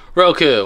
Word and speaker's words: Roku: Yeah, Roku. I like Roku because it rhymes with Goku.